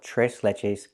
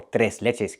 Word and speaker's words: tres leches: We use the Spanish name and we call it tres leches cake or tres leches cake, depending on your pronunciation.